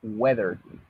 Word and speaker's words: weather: La pronunciación de esta palabrita es weather, ¿ok? Entonces, hay que tener cuidado con esa pronunciación nada más. Se pronuncia weather.